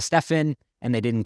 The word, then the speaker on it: Stephen: They pronounced his name wrong. They called him Stefan instead of Stephen, and they didn't correct it.